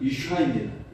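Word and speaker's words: אִשָּׁה: 히브리어 발음과 관련된 말씀인데요. 히브리어 남자는 이쉬이고 여자는 이샤입니다.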